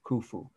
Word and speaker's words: Khufu: i'll spell it it's easy to write is khufu the pyramid of khufu that was the name of the pharaoh who had it built k h u f u kufu okay the pyramid of khufu is the great pyramid those two terms are